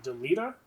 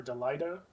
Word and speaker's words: Delita: So that night was uh a knight by the name of Delita or Delida. Um I always pronounce it Delita. That's sort of like a Tetus Titus situation.